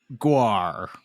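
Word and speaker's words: Guare: either way directed by Fred written by John guar from the famous band gu that is how you pronounce his name okay there you go written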